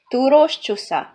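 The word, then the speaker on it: Túrós csusza: We call it, I don't know, you cannot pronounce it probably, but it's called Turos csusza.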